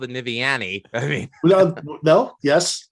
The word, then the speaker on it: Niviane: skinner from the band i'm going to hopefully pronounce this correctly nivean that's there you go actually it can be